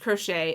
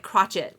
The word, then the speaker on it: crochet: multiple times in this I love how it pronounced crochet it was like crotchet or whatever it did not pronounce it correctly okay we're going to